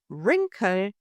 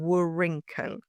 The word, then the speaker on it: wrinkle: Or wrinkle, pronounced wrinkle, not wrinkle.